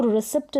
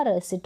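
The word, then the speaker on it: receipt: लिख दिया है मैंने क्योंकि उसको रिसेट ना पड़े इसका जो करेक्ट उच्चारण है वो रिसिप्ट होगा क्या होगा रिसाइट होगा और पी यहां पर क्या है साइलेंट है सीलिंग रिसीव कंसीव और रिसेट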